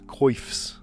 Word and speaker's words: coif: Fancy hairdos, coifs. Is that really how they pronounce it?